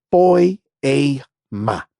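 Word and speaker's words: ποίημα: En el idioma original, esta palabra hechura es la palabra que se pronuncia poiema.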